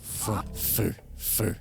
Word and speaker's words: feu: Feu.